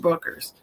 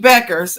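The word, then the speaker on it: Bueckers: and then Dallas Paige Buckers. Paige Buck Buers, I'm sorry, Buckers. Paige Beckers. I said it wrong three times.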